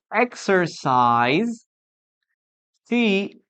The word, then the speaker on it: exercises: But the pronunciation here is a little different because we add an extra syllable. I exercise, she exercises.